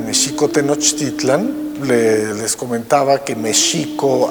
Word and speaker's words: México: Después de la caída de Mexico Tenochtitlan, les comentaba que Mexico, así es como se pronunciaba en el México prehispánico, la X no se pronunciaba ni J ni X, sino Sh.